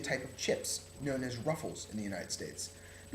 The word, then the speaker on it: Ruffles: Now you might be asking yourself, what is a rouflays? And the answer is, it's actually a type of chips known as ruffles in the United States.